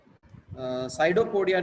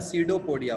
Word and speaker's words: pseudopodia: साइडोपोडिया नहीं होता है, सीडोपोडिया होता है।